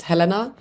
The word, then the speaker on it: Helena: a dress as me technically the correct pronunciation that I grew up with is Helena but I think Helena is a more American way of saying it and I've heard that